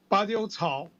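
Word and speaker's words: Badiucao: How do I pronounce his name, Olgierd? Well, it's Badiou Cao.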